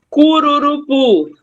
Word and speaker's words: Cururupu: Cururupu. Cururupu. Qual é a sílaba forte? Pu. É o pu.